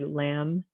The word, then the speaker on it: lamb: that's coming after it now for a silent letter b we have like in the word lamb comb crumbs plumber doubtful det subtle and thumb all of these that b is in different places in these words and you notice that